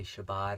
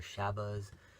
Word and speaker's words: Shabbat: Shabbat they prefer that believers will say Shabbat or Shabbos Ashkenazi pronunciation or the English translation